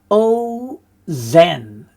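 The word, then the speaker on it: אֹזֶן: and then we have o Zen feminine noun for ear again the rule the kamat rule applies it's a short o sound in a closed syllable usually the first and then finally we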